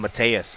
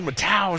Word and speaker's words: Mateus: It's funny because I want to call him Mateus, and it's not at all. No. But his name is spelled weird. Don't mispronounce somebody's name throughout their entire career. That would be ridiculous of you. He goes up there, I'm like, Mateus. He's like, who? Who? My name's Matau, motherfucker.